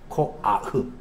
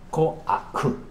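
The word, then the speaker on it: כֹּחַ: 정확한 발음은 코아흐입니다. 코아흐. 그냥 그렇게 뭐 정확하게 할 필요 없으니까 코아 그렇게 참감됩니다. 코아, 코아흐, 코아흐 하면 크의 발음이 흐가 아니고 크 이렇게 해야 돼.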